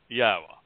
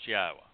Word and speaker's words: Yahowah: Haya, you can pronounce Yahowah. If you can say Shalom, you can pronounce the only letter that would throw anybody off in Yahweh's name, which is the Waw, that beautiful tent peg